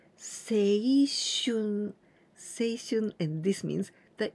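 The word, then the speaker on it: 青春: We pronounce seishun.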